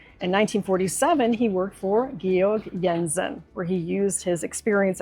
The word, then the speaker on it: Georg Jensen: A mid-century modern coffee tea set from Georg Jensen, often pronounced George Jensen in the United States.